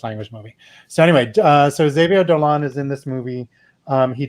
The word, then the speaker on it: Xavier Dolan: And I'm going to mispronounce his name probably, but I say Xavier Dolan. It could be Xavier Dolan.